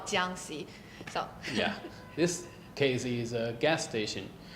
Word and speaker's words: Jiangxi: And if you guys can't pronounce the location, it's called Jiangxi.